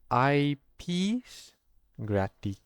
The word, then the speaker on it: eyepiece graticule: We are going to be calculating the size of an object of a specimen of anything object using something known as an IP gratic. So that's how this is pronounced and written IP gratic and we'll be using